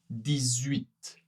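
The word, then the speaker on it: dix-huit: 8 18. Eh bien, oui, il faut faire la liaison ici. La liaison entre le 10 et le 8.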